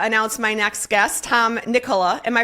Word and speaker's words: Nikkola: I'm thrilled to uh announce my next guest, Tom Nicola. Am I pronouncing that right, Tom?